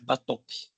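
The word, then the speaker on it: Batochio: Tenho até esse livro, Zé Roberto é batoque a pronúncia.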